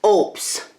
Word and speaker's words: OUPES: lights on it tomorrow I've been pronouncing it wrong this is an oops it's pronounced oops now we have it